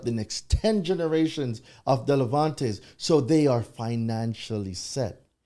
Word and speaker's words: Delevante: Delevante, did I say it right?